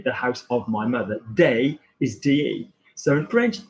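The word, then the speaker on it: des: D-E-S is day. Now, the problem is in Spanish, D, which a lot of people have come across, like la casa de mi madre, the house of my mother, day is D-E.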